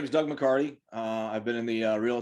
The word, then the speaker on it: McCarty: my new friend doug mccarthy i should have asked you if i pronounced your name correctly is that correct mccarthy it's mccarty t-y t i'm sorry well there